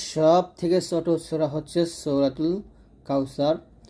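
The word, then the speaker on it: كوثر: দাঁতের সাথে না লাগে জিহ্বার আগা উপরের দাঁতের আগাতে লাগিয়ে পাতলা উচ্চারণ করতে হবে ইন সাকিন হয়ে যাবে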